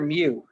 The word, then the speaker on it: mu: is the greek letter mu u seconds mu it's m u is the way we would pronounce it not m e u like the pokemon same sound different spelling you could use that